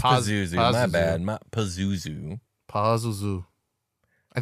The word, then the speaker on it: Pazuzu: I know we say Pazazu a lot, but it's spelled Oh, like it is Pazuzu.